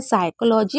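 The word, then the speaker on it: psychology: पी कब silent होता है? पी दो वर्ड मीनिंग में साइलेंट होता है। साइकोलॉजी और निमोनिया में।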